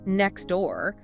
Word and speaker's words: next door: If a native speaker says "next door," they rarely actually pronounce the T in "next."